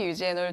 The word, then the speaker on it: 유제놀: 어떤 분은 유게놀이라고 말씀하시고, 어떤 분은 유제놀이라고 말씀하시고, 이게 외국어 발음이다 보니까, 이렇게 다르게 말씀하시는 분들이 계신데, 유게놀, 유제놀 둘 다 맞는 화학 성분의 이름이고요.